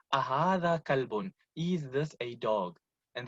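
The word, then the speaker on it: كلب: If your tajweed is not up to par and you are pronouncing your qaf as a kaf, now you're talking about, my kalbi so, bi kalbin salim, and when you are pronouncing a qaf as a kaf, instead of talking about your heart, you're talking about your dog.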